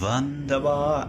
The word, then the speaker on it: Wunderbar: Just that was when I first realised that Germans pronounce their W's as V's. Wunderbar.